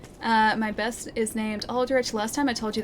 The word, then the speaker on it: Aldrich: figure out if it's Aldrich or Aldrich, but yeah, the game pronounces it Aldrich, I'm pretty sure.